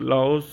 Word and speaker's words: Laos: और जो लाओ वैसे तो लाओस है इसका नाम लिखते हैं एल ए ओ एस है लेकिन बोलते एल ए नहीं बोलते हैं सिर्फ लाओ लाओ बोला जाता है लेकिन वैसे स्पेलिंग है